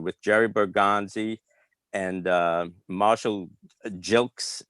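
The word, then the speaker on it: Gilkes: Mass, near Boston, with Jerry Bergonzi and Marshall Jilks, it's pronounced.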